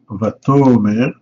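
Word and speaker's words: וַתֹּאמֶר: Par exemple, ici, on a Vatomer, vous voyez que c'est l'accent tonique n'est pas sur la dernière syllabe, mais l'avant-dernière.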